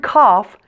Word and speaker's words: cough: different in this one the word cough sounds like off and there is one